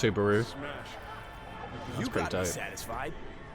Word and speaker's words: Subaru: It's pronounced Subaru.